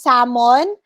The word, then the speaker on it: salmon: and then when ammon same as salmon the letter l is not pronounced okay so it's silent l library is correct stomach